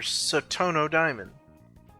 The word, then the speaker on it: Satono Diamond: Today is the 22nd of March on a Sunday, so that means it's time for Satano Diamond or Satono Diamond as it's usually pronounced in the game.